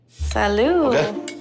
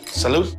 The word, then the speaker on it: salute: yeah it sounds good it's not Salo salute I took a little